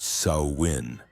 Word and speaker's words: Samhain: They called it Samhine, pronounced Sawin.